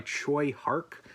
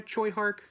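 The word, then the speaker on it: Tsui Hark: I didn't see it on this VHS specifically, but yeah, it's directed by Choi Hark. I believe that's how you pronounce his name.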